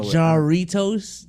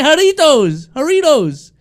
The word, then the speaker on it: Jarritos: It's not about the accent, but just the pronunciation was kind of crazy. I don't know. Jarritos to Jarritos is crazy.